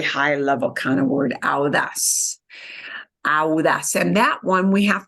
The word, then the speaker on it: audaz: But AU in Spanish becomes ow. And you do need to pronounce both of those vowels together. Yeah, ow, audaz, audaz. And audaz, we punch the as at the end.